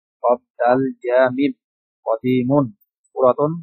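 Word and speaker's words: قديم: আমরা বাচ্চাদেরকে এভাবে পড়াই, জাদিদুন, জাদিদাতুন, নতুন, কদিমুন, কদিমাতুন, পুরানো বা পুরাতন।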